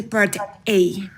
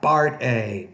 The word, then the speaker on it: part: let's start with the Part A now first of all when you say the word part you need to pronounce that with more air so Part A not Bart a but part a and